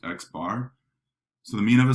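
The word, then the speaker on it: x̄: use in statistics is x with a bar over it and it's pronounced x bar so the mean of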